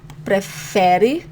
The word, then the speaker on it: prefere: Você prefere, and the emphasis here on the fe, and I'm putting it a little bigger so your brain captures the idea of a stronger syllable.